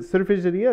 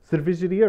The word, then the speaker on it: cervejaria: Is it cervejaria or... Cervejaria. Cervejaria or cervejeira? Cervejaria.